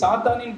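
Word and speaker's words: שטן: சாத்தானுக்காக என்ன பண்ணப்பட்டிருக்கு வைக்கப்பட்டிருக்கு சாத்தானின் பிடியில சிக்கி சாத்தான் கிட்ட மாட்டி இருக்கிறவங்க அங்கதான் என்ன பண்ணுவாங்க எபரேய மொழியிலும் ரொம்ப அழகா சட்டான் அப்படின்னு உச்சரிப்பு வருது எபர மொழியில சட்டான் தமிழ்ல சாத்தான் இங்கிலீஷ்ல சேட்டன் அவன் பேர் வஞ்சிக்கிறவன் ஏமாற்றுகிறவன் அந்த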